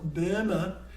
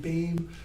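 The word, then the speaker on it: Böhme: You say the E at the end in German. So Burma, and it's an umlaut. It's been anglicized by B-O-E, which we don't know how to pronounce it, but try to avoid saying BAME or BOEM or boom. It's a word we don't use. Just think E, Burma.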